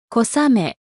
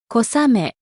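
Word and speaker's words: 小雨: 큰 비와 가랑비는 아메 앞에 각각 클대, 작을소를 써서 표현합니다. 발음에 유의해서 들어보세요. 大雨、大雨、小雨、小雨。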